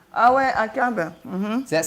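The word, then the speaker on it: עקב: The Hebrew pronunciation. Ah ouais, Akab.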